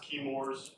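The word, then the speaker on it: Chemours: contaminated with pfas from it's pronounced kores um and all I'm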